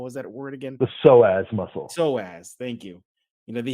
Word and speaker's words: psoas: I cannot pronounce it. It starts with a P again. What was that word again? The psoas muscle.